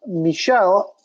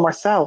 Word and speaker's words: Michel: Next up, Maurice Green, 8,700, taking on, I always get this guy's first name wrong, Michel. Keep wanting to call him Marcel, and all kinds of stuff.